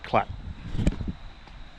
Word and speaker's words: Colac: I don't really know how you say it, but I've been told that uh it's referred to commonly as clat.